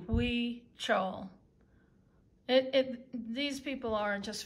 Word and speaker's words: Huichol: c h o l the h is pronounced like a w we chow it these people are